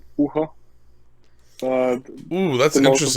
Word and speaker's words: Bucher: yeah the most people they say Booker or Butcher or something like that. So it's Bucher is the right.